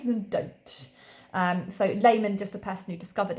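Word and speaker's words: Lehmann: This is called the Layman Discontinuity, and it's spelled Lehman, and then discontinuity, because it's not continuous, hence discontinuity.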